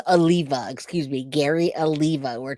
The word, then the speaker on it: Oliva: you say that Oliva it's not Olivia it's Oliva excuse me Gary Aliva